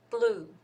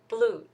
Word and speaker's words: blue: terms of sound differences L is kind of light the sound is kind of light um listen again this one blue blue the sound is kind of light right and for R though sounds kind of dark maybe that's because the